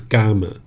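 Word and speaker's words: kamma: a hold on it sounds like a g. Yeah it does have a little bit of a g sound. This is probably a little bit picking up from Thai language as well. So it's gama, right? So that's the way you would say it in the poly language.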